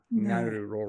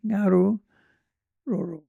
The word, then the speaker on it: Ngaruroro: Well, the first two letters, NG, are the same pronunciation as the word tongue. Ngaruroro. Yeah, Ngaruroro.